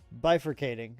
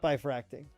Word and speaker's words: bifurcating: This is pronounced bifurcating. It's not bifracting.